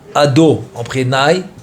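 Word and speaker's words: אדני: Ça veut dire que le quand je dis ado naï. OK mais il s'écrit le you ensuite le he ensuite le va ensuite le ça k vafavk il s'écrit comme ça mais je le prononce différemment.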